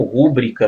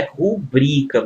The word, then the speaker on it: rubrica: a palavra rubrica né muitos pronunciam rúbrica né e põe até acento né n certo é rubrica moçada ó tô grifando aqui a sílaba tônica né uma paroxítona e não a proparoxítona tudo bem sob a